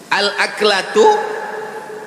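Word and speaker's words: الأكلة: Al-aklatu bifathil hamzah. Cara membacanya hamzahnya baris atas.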